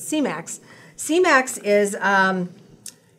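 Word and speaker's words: Semax: that help you get back to normal okay c-max is how you pronounce that thank you it's not semen it's c-max c-max is um it's a peptide that helps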